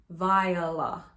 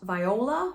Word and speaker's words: Viola: you pronounce her name viola not viola or viola it is sometimes two syllables sometimes three if you want to